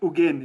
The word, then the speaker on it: Nguyen: It's a little bit different, but how do you pronounce it? Ugian, yeah? Yeah, you're very close actually, Richard. Ugian it is.